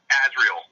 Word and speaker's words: Azrael: Is that how you pronounce it? It's Azrael.